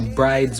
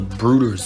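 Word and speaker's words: Bryde's: today we're going to be talking about the bride's whale first up it's not actually called the bride's whale it's called the brooder's whale yeah it's pronounced brooders which i don't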